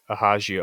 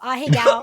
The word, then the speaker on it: ahegao: I thought it was like ahegao or something. No, ahegao. It's, I mean, that's like... That's like sexy Japanese French. Mm-hmm. What's that? That's the ahegao face.